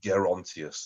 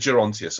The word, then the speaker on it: Gerontius: producer so um yes apparently it's gerontius the dream of gonus I said gerontius apparently that would have provoked angry letters um which I can